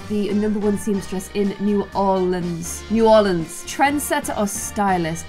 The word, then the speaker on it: New Orleans: There are some bigger houses in New Orleans that are some, I'm gonna have to work out how to pronounce that word.